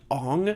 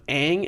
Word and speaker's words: Aang: Well, immediately in the what was it, in the trailer, they pronounce his name Ong instead of Aang, and I was like, nope, bad.